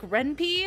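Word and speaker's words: Ren'Py: So software like RenPy, or however you want to pronounce it, is okay, but it's really confusing to someone who doesn't know coding.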